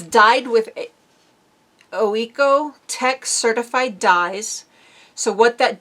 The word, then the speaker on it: OEKO-TEX: by OEKO-TEX OE O E I can't even pronounce the word. It's OEKO-TEX.